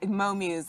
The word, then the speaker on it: Mo Muse: Is that, am I pronouncing it Mo Muse? Is it Yes, all one? yes, and that Mo Muse, exactly, and Okay.